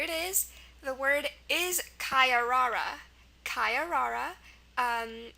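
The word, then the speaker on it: caiarara: is okay here it is the word is kayara kayara um it's a noun it's from Portuguese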